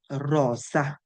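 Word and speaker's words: rosa: দিয়ে কি পাওয়া যায় রজা এটাকে আপনাকে এরকম ভাবে পড়তে হবে এর অনেকে কি বলে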